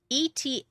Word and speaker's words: eta: Eta, long E as in tabby.